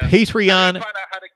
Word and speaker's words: Patreon: so much for the contribution patreon it is patreon so it's spelled patr Aon a patreon a dot-com well